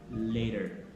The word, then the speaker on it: later: That's the time it becomes a soft D sound. For example, this word, L-A-T-E-R, that is later.